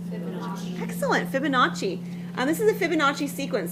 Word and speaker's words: Fibonacci: Excellent, Fibonacci.